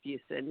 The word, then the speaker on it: Fuson: it fuson yeah every everyone pronounces it wrong it's fuson yeah Fus I Fon okay we're sorry mid February 199 okay so we're not gonna say we're not gonna say fous anymore right yes yeah